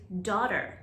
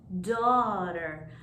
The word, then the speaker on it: daughter: the next one is daughter sounds like an aw is in the middle of the word daughter daughter she has four daughters